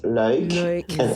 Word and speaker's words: Luik: Yeah, the Flemish version is Luik, and the German version